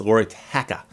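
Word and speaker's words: Lauri Tähkä: his names t-a-h-k-a and there's umlauts over the 2A so it's Laura techa and again I I should be rolling the r and the L and hitting those A's just right and I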